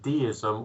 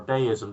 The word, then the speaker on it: deism: together and that's called dism or deism depending upon your pronunciation spelled de i m